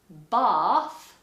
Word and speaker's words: bath: it so for example in the word bath northerners would say bath and americans would say